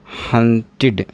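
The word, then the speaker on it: hunted: और एग्जांपल मैं आपको दूं, जैसे हंट, हंट, हंट में आपने ईडी जोड़ा तो इस ईडी का प्रोनाउंसिएशन क्या होगा? देखिए हंटेड क्या हो जाएगा?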